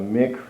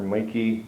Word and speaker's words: Micke: So this is the Ikea Micke or Micke desk. Pronounced a few different ways depending on what country you're in.